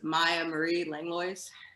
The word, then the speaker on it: Maya Marie Langlois: thanks paul uh so to pronounce my name it's maya marie langlois um okay i butchered